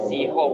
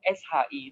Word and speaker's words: 是: Bukan Siho, SHI itu bacanya Shi. Kebetulan yang Shi itu nada 2, maka bacanya Shi. SHI bacanya Shi, lidahnya agak ditekuk. SHI tidak boleh baca SC.